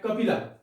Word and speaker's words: Kapila: In Sanskrit, it is pronounced as Kapila.